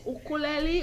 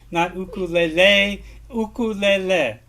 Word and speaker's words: ukulele: debates over the pronunciation the correct debate of the hawaiian word is ukulele in the english version of the word is ukulele and it's okay to it's okay it's okay to treat that word as an